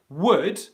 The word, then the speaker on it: would: Yes, so Alex, there's no H in that word at all, not even spelt. So would, there is no H sound, okay?